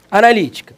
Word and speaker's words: analítica: Analítica, separa a sílaba. A, na, li, ti, cá. Esse li aqui, percebe que é a antepenúltima sílaba dessa palavra? Então a palavra é proparoxítona.